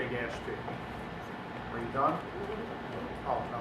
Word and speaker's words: Gaspee: It may be pronounced Gaspé, I don't know, but I'm going to say Gaspee.